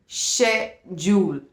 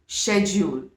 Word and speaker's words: schedule: Okay, so the pronunciation is schedule, schedule. Okay, in American जो CH है आपका first syllable में वो श का साउंड नहीं दे रहा है, क का साउंड दे रहा है एंड इट बिकम्स स्के।